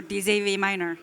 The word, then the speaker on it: DZV Miner: I know that all of you are interested about how to pronounce it. We design miners, so DZV Miner.